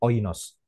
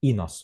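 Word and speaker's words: οἶνος: Seperti yang dilakukan tadi, Erasmian pronunciation-nya oinos. Atau pakai modern Greek pronunciation, inos bisa. Ya. Itu. Oinos atau inos.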